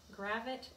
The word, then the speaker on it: Gravett: right so um emily gravette and the way that i remember how to say her name is it it does rhyme a bit with rabbit gravit and rabbit she has a fabulous